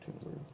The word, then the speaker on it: Thunberg: Yeah, by the way, the rationality rules did in fact go ahead and cemented that, yes, it is Thunberg. The correct pronunciation, Thunberg.